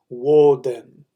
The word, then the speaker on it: Woden: Odin is the pronunciation of the Scandinavian people, but that's actually not the correct pronunciation of his name. The earlier correct pronunciation of his name is Woden. Woden.